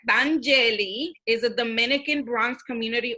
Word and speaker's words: Danyeli: Let's pronounce this correct. Danyeli is a Dominican Bronx community organizer, a writer, a spoken word performer.